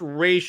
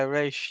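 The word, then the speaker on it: Ra's: correct me if I'm wrong but but it's pronounced race and Gotham Knights right yeah race yeah okay good just making sure I want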